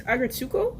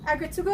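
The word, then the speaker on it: Aggretsuko: I think it's Agretsuko. Agretsuko, I think so.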